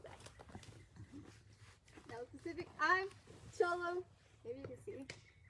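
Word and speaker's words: Xolo: I'm Cholo. Maybe you can see. X-O-L-O, but it's pronounced like C-H-O-L-O.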